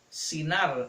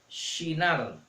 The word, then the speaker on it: Shinar: Recuerden bien que no se les olvide que los griegos no pueden pronunciar la she, así que ellos le quitan la h para decir en la tierra de Sinar, en la llanura de Sinar, pero en hebreo se pronuncia Shinar.